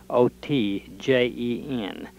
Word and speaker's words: Otjen: I'm in Enid, Oklahoma, and we're interviewing Mr. Otjen. Is that correctly pronounced? O-T-J-E-N.